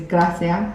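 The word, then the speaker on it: gracias: say so hello is Ola thank you is Gracia Gracia graia um how are you is K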